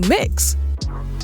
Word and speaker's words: Mx: be changed as well from Miss or Ms to mix when it's written it's spelled MX period Well the principal didn't